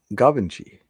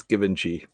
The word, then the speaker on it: Givenchy: have to hear it remember it's like french govinchi yeah but it's spelled g-i-v-e that's give g-i-v-e-n given givenchy all right it's given g it should be given